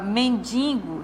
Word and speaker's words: mendigo: A palavra mendigo. Mendigo, a sílaba tônica aqui é no men, né? Só que o que acontece aqui na palavra mendigo, está nasalizando o I, né? Aqui, ó, o I. Mas o correto é mendigo.